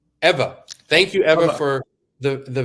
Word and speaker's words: Ewa: Ewa? How do you pronounce the name? Eva.